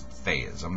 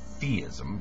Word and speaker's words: theism: Yes, I do pronounce theism, not theism, because that's how the ancient Greeks would have pronounced it.